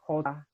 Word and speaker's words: jota: The letter J is pronounced as an English H. So Javier, Jota, ajedrez, okay? Those are your J's. And it'll never be pronounced J. Okay?